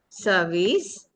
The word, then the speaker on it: service: World turn Thursday verb dessert dessert dessert dessert service service not service uh service service like in the bird uh service.